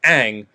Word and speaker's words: Aang: it like differently to that but how they pronounce it in the show is aang and if you're making this show for like